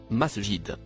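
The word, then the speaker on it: مساجد: tout à fait ça le mot en surbrillance verts se prononcent masjid il vient du verbe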